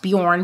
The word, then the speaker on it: Bjorn: in those territories that is called Bjorn it's pronounced Bjorn but it's actually spelled b-j-o-r-n I saw that